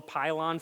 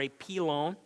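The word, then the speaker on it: pilon: fracture or AP loan it's a French word in fact and if you want to say it properly and raise the eyebrows of your co-workers you it is true to call it ap loan fracture now you know that's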